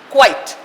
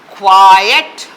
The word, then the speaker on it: quiet: word quiet and quiet see quite one syllable quiet quiet two syllables one two this means soft quiet